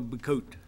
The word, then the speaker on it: Bacote: Keith Levi and Michael Bacote. Keith I've never Levi. pronounced that Bacote. Is that not a Bacote? It's Coat, like a coat you wear.